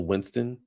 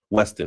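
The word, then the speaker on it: Westin: in um in DC at the at the Winston. Is that how you say it? The Winston Hotel? Weston, excuse me.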